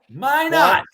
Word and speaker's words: Minot: Minot. That's my I asked you about May not earlier. Say it. It's They don't pronounce the T.